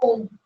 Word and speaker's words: ओम: और ओम का सिंबल ऐसे बनेगा, ओम नहीं डालना, वो ओ एम होता है, इसके अंदर एच साइलेंट है, ओम।